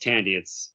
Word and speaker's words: Thandie: I love do you say, is it Thandie or Tandy Newton? I believe it's pronounced Tandy.